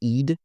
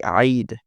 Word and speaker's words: Eid: Not all of them, but like I've seen America say Eid. It's like but it was like Eid but in Arabic they would say eyid since they can't do